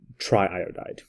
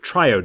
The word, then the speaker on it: triiodide: would actually be called triiodide triiodide you would actually separate this and make this or you weren't actually dropping I make it triode I'd it would be tri iodide with very distinctive syllables there so it's going to